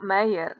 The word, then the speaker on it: Meyer: Gdybyśmy do tego doliczyli wszystkie warianty typu Mayer przez AI albo Meyer, znaczy w sensie wymawia się Mayer, ale pisze się Meyer, może tutaj dopiszę Mayer